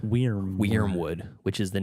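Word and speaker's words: Wyrmwood: But yeah, Wormwood, it's spelled W-Y-R-M Wood. Wormwood, which is the name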